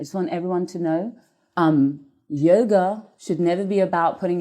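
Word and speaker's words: योग: So how do you pronounce the word yoga? Yoga comes from the ancient language Sanskrit, the ancient language of Sanskrit, and it is pronounced yog.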